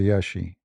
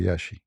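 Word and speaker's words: Iași: beautiful country actually yeah when you pronounce it you say yashi like in in in Latin it sound different but they this what I learned from them they say yashi It's not a actually I went not only to Yashi.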